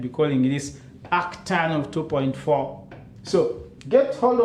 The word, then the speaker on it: arctan: So theta is, you can pronounce this as arctan.